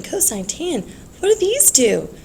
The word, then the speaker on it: cosine: It's not pronounced sin, it's sine. We're not committing a crime here. This is cosine, not cos, it's cosine.